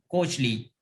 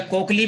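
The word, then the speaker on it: cochlea: जिसे हम कहते हैं कोचली। क्या कहते हैं? कोचली, या कोकली भी कहा जाता है इसको, कुछ लोग कोकली कहते हैं, कुछ कोचली कहते हैं, जो बट the actual pronunciation is कोचली।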